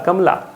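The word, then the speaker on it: Kamla: तो कमला जब पढ़ते हैं प्रोनाउंसिएशन पे बात आती है तो म को बिल्कुल हल्के आवाज़ में पढ़ते हैं। तो एम ए से म, एल ए से ला, कमला।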